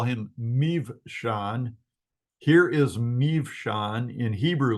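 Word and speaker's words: Mibsam: If a B occurs in the middle of a word, oftentimes it's going to be pronounced as a V. Then you've got, we'll call him Mivshan.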